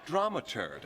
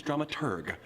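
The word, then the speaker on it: dramaturg: our stage manager slash drama turd the correct pronunciation is drum at urgh the researcher of the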